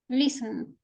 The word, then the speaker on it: listen: Damaris, which is the letter that doesn't sound? Listen. T. Letter T. Pronounce the word. Listen. Exactly. You don't say listen. No, listen. Letter T doesn't sound.